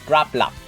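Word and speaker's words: Grapploct: hilda and grab lot i pronounce this as grap a lot but some people pronounce this as grappler whatever there's no such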